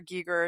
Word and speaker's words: Giger: The look, the whole H.R. Giger, as you guys taught me to pronounce it, look, aesthetic is amazing and prevalent.